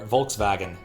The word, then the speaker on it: Volkswagen: we go foreign crab V is pronounced like w it's mind wagon equals car Volkswagen makes more sense doesn't